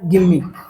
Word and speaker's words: gimme: गिम्मी।